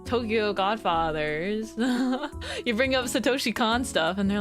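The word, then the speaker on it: Satoshi Kon: know anything by like Sakoshi Khan. Wait, I got his name wrong." But but then you like bring up, you know, like Tokyo Godfathers. You bring up Satoshi Khan stuff and they're like, "Huh?"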